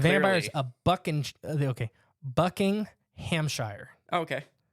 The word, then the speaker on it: Buckinghamshire: is a bucking okay bucking Hamshire okay buckinghamshire buckinghamshire that's like you just got to say it all as like one syllable exactly it's what they do another interesting story that's